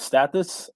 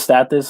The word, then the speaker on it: Status: Well, my name is Status. It's pronounced stat, and this, for most people say status, but it's Status.